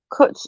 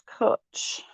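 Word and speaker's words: cwtch: cook equals loving um kuch equals hug and it's spelt like this let me show you coach equals um it's coach it just means hugs it's just a welsh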